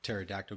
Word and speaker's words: pterodactyl: Because the P is silent.